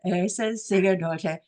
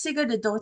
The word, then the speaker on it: Sigurðardóttir: author Ura s daughter and I've practiced the name all day and of course I've said it wrong Ursa hello hi hi now I'm gonna try it again it's it's Sig adter isn't it yes s yes you got I got it yes yeah yeah it's